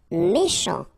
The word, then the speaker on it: méchant: Méchant. Final T not pronounced. Then C-H, sh, chant, méchant.